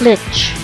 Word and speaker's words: Lich: Lich. The Lich. Not to be confused with a leech, but the Lich.